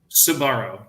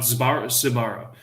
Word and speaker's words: Sbarro: of it it's like how do you pronounce it sabaro Sbarro not Subaru I've heard good things